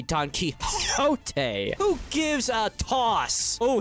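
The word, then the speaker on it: Don Quixote: When people tell me that I'm mispronouncing Donote, it's supposed to be Don Kiote.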